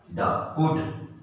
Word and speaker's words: could: ये क्या है बच्चों, COU को कैसे पढ़ेंगे, इसका क्या साउंड होगा, कू। L चुपचाप, L का नहीं होगा, ठीक है। तो L को मैं ऐसे करके कर देता हूं, ऐसे, ये L है बीच का, इसको मैंने बॉक्स में लगाया, वो साइलेंट, चुप, है ना, इसका साउंड नहीं आएगा। तो COULD, तो COU कू, कुड, L का साउंड नहीं हुआ, लेकिन जब आपको लिखने